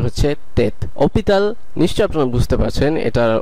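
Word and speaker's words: hôpital: দেখা যাক সেটা হচ্ছে অপিতাল ওপিতাল অপিতাল আপনি নিশ্চয় লক্ষ্য করলেন আসটা সাইলেন্ট আছে এবং যেহেতু আসটা সাইলেন্ট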